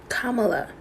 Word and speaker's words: Kamala: know why it still exists pamala kamala ah kamala that sounds so weird kamala look at me